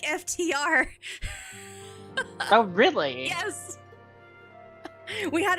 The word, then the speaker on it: FTR: Is it supposed to be pronounced Iftar? Iftar? No. I asked this question when they first showed up. It's pronounced like FTR.